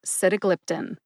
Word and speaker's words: sitagliptin: together and you get sitagliptin emphasize sit and glip glip gets the most emphasis see if you can